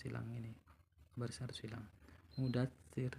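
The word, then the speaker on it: مدثر: Mudatsir, jangan mudatsiru, bacanya mudatsir.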